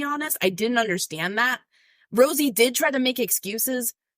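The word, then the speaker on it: Rozzi: Rosie Who David Hennessy called Mr Rousy his name is pronounced Rosie people who know him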